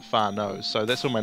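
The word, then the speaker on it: whānau: word for family and it's not spelt the same but that's how you pronounce it far nose so that's what my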